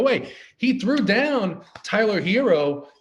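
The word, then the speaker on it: Herro: he threw down tyler hero and that's the right way to pronounce it i got in touch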